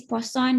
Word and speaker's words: Poisson: the next one is poisson distribution again a french guy that's why it's pronounced like that arises frequently in scientific